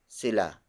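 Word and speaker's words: sila: particle and then the third word is Sheila Sheila Sheila Sheila is spelled as s I L a it means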